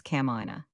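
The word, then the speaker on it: kamaʻāina: It contains 5 vowels, which, with the 3 consonants, compose 5 syllables. No syllable is accented, all syllables are pronounced, the vowels having precisely the same values as the Italian vowels.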